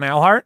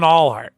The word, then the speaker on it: Alhart: pronunciation guide for alhart I'm Al Hart and so when when he did not when he did he he called him Allheart he had like seven